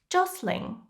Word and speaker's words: jostling: Jostling, pushing others to find more space for yourself. We don't read the T.